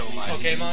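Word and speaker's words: Pokémon: She's pronouncing Pokemon wrong and it bothers me. What's so Pokemon? Pokemon. That's how it's supposed to be pronounced.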